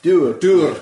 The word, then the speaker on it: dour: Dour, as we pronounce it in Scotland.